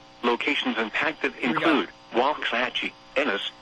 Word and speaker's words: Waxahachie: Waxahachie. I think it said Wexahachie. But Weather Radio is weird sometimes. It doesn't pronounce everything correctly.